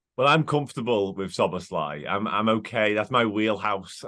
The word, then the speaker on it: Szoboszlai: But he has said in the Bundesliga, Dominik Szoboszlai. So we'll see if that is maintained or not. Obviously, we know the Premier League now do their pronunciation videos as well. But I think if you say Szoboszlai, you're not too far wrong.